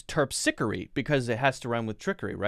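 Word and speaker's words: Terpsichore: all terpsicary it's going to be my guess pronunciation here we go terpsichory yes yes what does it mean the muse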